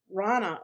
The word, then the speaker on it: Rana: Rana, okay, like Donna with an R.